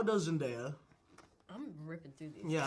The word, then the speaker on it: Zendaya: How does Zendaya? I'm ripping through these. Yeah, I know.